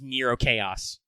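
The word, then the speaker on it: Nrvnqsr Chaos: of them goes around writing his name nevinsker but it's supposed to be pronounced nero chaos you know that guy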